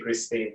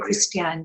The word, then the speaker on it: Christiane: Thank you, Christine. Thank you very much. Very kind of you. Christiane, sorry. Christiane. I've got the name wrong. Christiane. Christiane, rather than Christine.